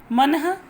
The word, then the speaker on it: मनः: जैसे मेरे प्यारे बच्चों, ये देखिए उदाहरण, मनः। जब मैंने पहले भी आपको बताया है कि यहाँ जो लगता है विसर्ग लगता है तो वहाँ ह का उच्चारण होता है।